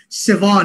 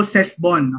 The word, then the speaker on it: Sebon: Okay, para lang sa nagtatanong, ang bigkas po dyan, sebon, hindi po sesbon, okay?